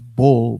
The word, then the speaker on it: Bul: I know B-U-L-L is bull, but B-U-L, I believe is pronounced bull, exactly, pronunciation B-O-O-L, bull, right?